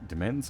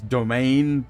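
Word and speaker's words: demesne: Our family claims a spacious section for its de uh demen demens. I There is a It's It's not pronounced like that, is it? It's domain, but spelled demens domain.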